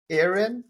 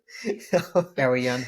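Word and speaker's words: Eärien: Farazan's son, son, and Erin. I don't know if I'm saying it right. Arian or something. Yeah, Arian, yeah.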